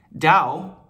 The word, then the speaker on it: Tao: Tao, why is it spelled with a T? That makes 0 sense.